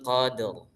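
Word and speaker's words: قدر: Nah, ra-nya itu kita baca tebal.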